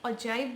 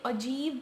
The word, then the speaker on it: ogive: को ऑक्टिव बोलते हैं, कोई अजाइब बोल देता है, कोई अजीब बोलता है, तो इनकी प्रोनाउंसिएशन भी डिफरेंट डिफरेंट है, तो हम इसको वैसे ऑगिव ही बोलेंगे, राइट।